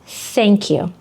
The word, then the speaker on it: thank you: So, put your tongue between your teeth, like this. Угу. Blow air. А тепер спробуй сказати thank you.